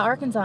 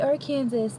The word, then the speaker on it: Arkansas: Fun fact about Arkansas, in case you didn't know this.